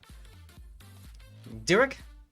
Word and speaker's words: Durek: Did I pronounce it right? Durek? That's how you say it.